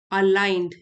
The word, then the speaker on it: aligned: It helps you focus on what truly matters and allows you to live a life aligned, ji silent है, aligned with your values।